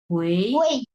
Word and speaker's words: 回: ইউআই থাকবে, শুধুমাত্র ইউআই থাকবে, বাট এটা উচ্চারণ হবে উয়েই, উয়েই, হ্যাঁ।